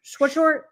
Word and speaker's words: Swisher: The catcher, Nick Schwartz, Swisher.